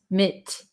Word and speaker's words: legitimate: listen to the pronunciation leg this is a flap T legit MIT MIT we don't say mate leg legitimate legitimate so legitimate if you've um